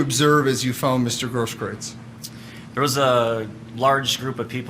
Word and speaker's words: Grosskreutz: I'm not sure how you pronounce his last name, Gage. I believe it's Grosskreutz.